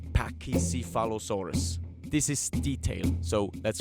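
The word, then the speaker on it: Pachycephalosaurus: But I think Pakisphalosaurus was wrongly pronounced in the series. They called them something like Pakyalosaurus and not Pakisalosaurus.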